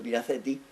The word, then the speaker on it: Mira Ceti: Una que es la Mira Ceti, producción latina a mi modo, porque los clásicos de latín se enfadan si yo pronuncio así, pero yo pronuncio Mira Ceti, y que significa la